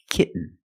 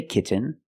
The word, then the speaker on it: kitten: practice with another sound when you have t n t o n or t a i n at the end of the word and the syllable is not stressed the T makes a different sound we have to make a stop T and Link it to the N example kitten you can